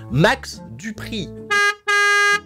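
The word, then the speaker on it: Max Dupri: max du prix d'ailleurs y insister sur la prononciation son truc c'est un petit peu à la française max du prix bronze rapanos hibon running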